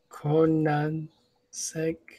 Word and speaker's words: Koenigsegg: How do you pronounce it? Koenigsegg, Conan Seg.